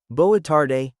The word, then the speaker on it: boa tarde: Boa tarde, boa tarde, good afternoon. Boa is like, boa constrictor. Tarde is, tarde. The D sounds a bit like a soft G.